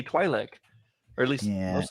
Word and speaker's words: Twi'lek: Twi'lek, I is always- that how you pronounce it? I thought it was. I always Yeah, thought it was Twilight. It's Okay. Twi'lek. I was frustrated to learn that too.